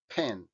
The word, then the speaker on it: pen: pero os habéis fijado un español pronunciaría pen pero no en inglés la p también es más fuerte pen ya nos había pasado